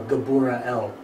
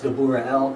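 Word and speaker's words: גבריאל: severity of God right the name is actually as we talked about before gabora L like the cro gabura exact same word which the cro means strength or severity same idea here well now it's gabura l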